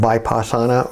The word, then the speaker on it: vipassana: divine and it's called vaipasana or vipassana i think is its proper pronunciation the book that i